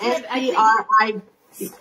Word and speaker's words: Scribd: Scribd, is that how you say it? S-C-R-I-B-D.